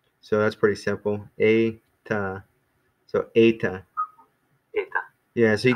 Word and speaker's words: eta: But so anyway, but eta, that's how it's pronounced. It's actually one of the vowels, even though it looks like an H or something. It's one of the long vowels.